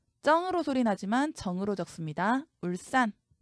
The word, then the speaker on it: 울산: 울산. 싼으로 소리 나지만 산으로 적습니다. 죽변.